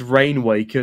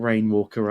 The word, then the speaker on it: Rainwaker: I feel Again, it's Rainwaker, not Rainwalker up next, so you keep that in the back pocket.